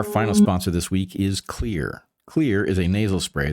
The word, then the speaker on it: Xlear: It's Xlear. That's X L E A R pronounced "clear" throughout history, improvements in